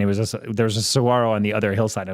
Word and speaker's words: saguaro: so whatever it's a saguaro cat Saguaro like the G silence yeah yeah dude there's